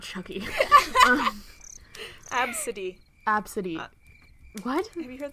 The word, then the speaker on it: Abcde: Like Absidy. Chuck E. Cheese. Yeah, like I want to see like a little. No, not Chucky. Absidy.